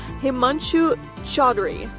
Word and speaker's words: Himanshu Chaudhry: My name is Akatarina and today we are in Chicago here for the summer conference and joining me Himanchu Chadri. Did I pronounce this correctly?